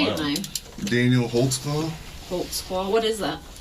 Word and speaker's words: Holtzclaw: there because I don't even know how to spell it how do you say it Daniel holtzclaw holtzclaw what is that it's a German can